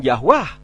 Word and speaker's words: Yahweh: bukan nama Arab jadi nama yahwe diucapkan yah Wah karena huruf Arab tidak mengenal vokal e di depan tadi teman saya yang